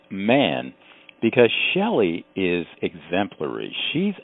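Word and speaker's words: Mahon: actually U it looks like it might be pronounced May because it's spelled m a ho o n but the universe don't make no mistakes here and it's got to be pronounced man because Shelly is exemplary she's out there uh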